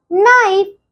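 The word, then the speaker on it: knife: के फॉर नाइफ। अब आप सोचेंगे कि नाइफ में के तो बच्चों यह के आपका साइलेंट रहता है।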